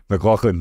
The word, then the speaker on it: McLauchlan: to say it how do you say it McLaughlin there we go piano yeah there you go